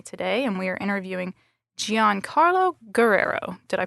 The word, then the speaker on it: Giancarlo Guerrero: I'm Sarah Arts and I have my colleague Grace Holm with me today and we are interviewing Gian Carlo Guerrero. Did I pronounce that correctly?